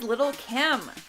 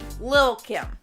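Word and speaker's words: Lil' Kim: next number nine is Little Kim or Lil Kim I feel like that is the proper way to say it what happened was Danielle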